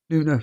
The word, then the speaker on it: Nuno: bloody name aspiro Santos how how would you pronounce his name again the not your Forest manager noo Nuno there we are done when Nuno took over